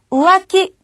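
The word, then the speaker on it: 浮気: 처리하셔야 돼요 자 그러면 바람 피우는 것 자이 발음은 우키 우와키 바로이 부분이었습니다 땡땡과 있고 없고에 따라서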